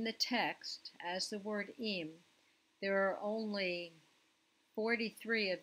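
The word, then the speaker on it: אִם: It's pronounced im, and it means if.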